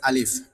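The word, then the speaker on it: ألف: আলিফ উচ্চারণ করার সময় এইযে সামনের যে দুইটা দাঁত আছে উপরের সামনের দুইটা দাঁত নিচের টোটের পেটের মধ্যে লাগায় দিবেন। লাগানোর সময় একটু বাতাস বের হবে তাহলে কি হয়ে যাবে? আলিফ উচ্চারণ হয়ে যাবে।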